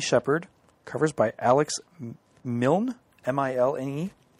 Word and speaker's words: Milne: covers by Alex Milne, M-I-L-N-E. Well, that's how the Winnie the Pooh guy pronounced it, so yeah, I'd say Milne.